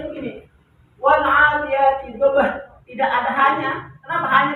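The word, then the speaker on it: وَالْعَادِيَاتِ ضَبْحًا: Mat yang terjadi apabila ada fathatain berada di akhir ayat atau tanda wakaf, tanda berhenti. Wal adiyati dhabhan. Dibacanya wal adiyati dhabhan. Kenapa tidak dibaca fathatain?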